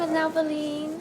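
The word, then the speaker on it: nhow: Welcome now. How do you say the name of the hotel? It's now Berlin. Okay. You don't need that H. You realize that?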